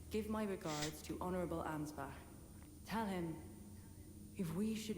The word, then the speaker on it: Ansbach: Truly, I should have asked Ansbach to impart his knowledge when I had Ansbach. That's how you pronounce it.